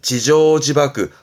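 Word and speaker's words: 自縄自縛: 발음은 지조지바크, 음으로는 조가요.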